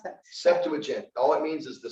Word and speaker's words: Septuagint: The word for the Bible, how do you pronounce that? Septuagint.